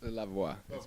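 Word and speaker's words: La Voix: maybe you can give it a try it's love wah okay that's what I thought that was like my French pronunciation is horrible but you're a finalist on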